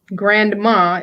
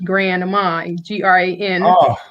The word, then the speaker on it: Granma: It's not Grandma, it's Granma, Granma, Grandma.